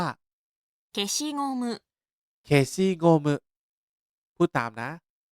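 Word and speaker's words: 消しゴム: ยา ลบ ยาง ลบ ภาษา ญี่ปุ่น ออก เสียง ว่า เคชิ งมึ เคชิ งมึ พูด ตาม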